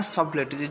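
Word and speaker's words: subtleties: ना सबलिटीज कह बुझल या प्रोनाउंसिएशन कौन ना सबलेटिस जो टीटा साइलेंट रो सबलेटिस ऑफ स्पिन देखो सबलेटिस ऑफ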